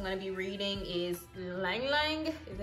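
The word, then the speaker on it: ylang-ylang: top notes i'm going to be reading is ylang ylang is how you say it neroli bergamot vanilla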